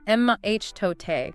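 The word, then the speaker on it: mitote: That's the mote pronounced uh MH tote.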